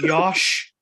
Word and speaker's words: Josh: Is it Yosh? Yeah, it is Yosh.